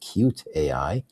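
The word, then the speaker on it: Kyutai: Another company, KY AI, pronounced cute AAI, also based in Paris, has raised over $300 million as a nonprofit lab developing open-source realtime multimodal AI models.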